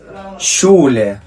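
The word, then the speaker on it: Schule: اللي معانا بعد كده شولا شولا يعني مدرسه معانا هنا مقطع الاس سي اتش نطق الشا الكلمه اللي معانا بعد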